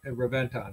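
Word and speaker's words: Reventón: So, Ken, is this pronounced Reventon or Reventon, or how do you pronounce it? Reventon.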